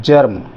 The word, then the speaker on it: germ: जैसे ये है जर्म, GERM, जर्म या जैम। अब ये जर्म लिखा है हमने, है तो जी, लेकिन इसका उच्चारण गा ना होकर जा आ गया, जर्म।